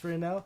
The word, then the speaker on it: Furnell: We have Josh Furnell. Did I pronounce that right? Yeah. Josh Furnell.